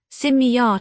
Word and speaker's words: Simiya: Arab, Simiyar to rhyme with Kimiyar alchemy proper.